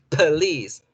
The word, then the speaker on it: police: Esta es police, police, police. Y en este caso, la schwa tomó la posición de la letra O.